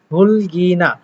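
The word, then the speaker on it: 흙이나: আসলে এখানে গিউটা উঠে যাওয়ার কারণে মূলত বামেরটা উচ্চারণ হচ্ছে। কিন্তু এমনিতে থাকলে আসলে হুক শব্দ হতো। কিন্তু যেহেতু গেউ উঠে যাচ্ছে সেহেতু নিচে পড়ে থাকতেছে র তাই উচ্চারণ হচ্ছে হুলগিনা।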